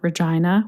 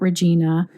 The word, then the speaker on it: Regina: at the transcription when colin was just kept mentioning regina regina regina which is exactly how regina saskatchewan is pronounced which is odd that it's not regina and so nothing can